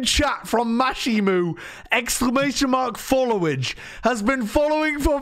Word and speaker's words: followage: Do you not realize it's pronounced follow age? Like the age that you've been followed?